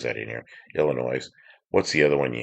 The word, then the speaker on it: Illinois: People who pronounce the S in Illinois drive me nuts. Illinois. Yeah, Illinois. Where's the other one you hear like that? I thought it was Illinois.